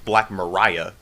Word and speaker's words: Black Maria: So supposedly, this one website said that it's supposedly pronounced Black Mariah, but yeah, that's beside the point.